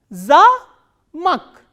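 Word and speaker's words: замок: a, ma, o, ka, but this a is stressed and o is unstressed. So, how will we pronounce this word? Za-mak, za-mak, zamak.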